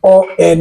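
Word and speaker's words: ONU: so actually uh uh the spelling would be o n u but in French it is uh pronounced as on and and to problem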